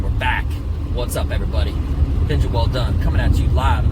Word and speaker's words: Welldone: So, uh I'm keeping it as a well done comedy show. Not that many guys or gals know, but my last name is actually pronounced well done, like good job, right?